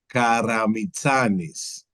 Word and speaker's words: Karamitsanis: starting with my family name is pronounced Karamitsanis, which in a Karamitsanis.